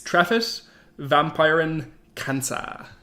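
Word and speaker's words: Treffit vampyyrin kanssa: It's Treffit Vampiren Kansa. I apologise to any of our Finnish listeners if that was a butchered pronunciation. No, that was perfect.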